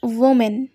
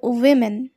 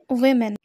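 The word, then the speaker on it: women: ই এন এই ওয়ার্ডটাও কিন্তু আমরা অনেকেই ভুল উচ্চারণ করে এসেছি আমরা অনেকে বলি ওম্যান এটা একেবারেই ভুল আমরা এখন থেকে বলবো উইমেন কি বলবে উইমেন অর্থাৎ মহিলা এল এম ও এনডি এই শব্দটাকে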